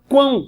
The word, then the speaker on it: quão: Aqui você fala quão, você não fala cão, você fala quão. E quando você fala quão, olha o que acontece. O U, ele é pronunciado, é uma semivogal.